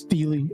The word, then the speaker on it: Steele: Dexter Steele, with an E at the end. That's pronounced Steely, actually.